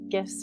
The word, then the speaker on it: GIF: And I do say GIFs with a hard G.